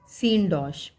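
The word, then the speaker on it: synecdoche: अब हम पढ़ेंगे सीनडॉश, सिनेडॉक, साइनेडॉक, लेकिन फोनेटिक्स के अकॉर्डिंग इसे बोलते हैं सीनडॉश।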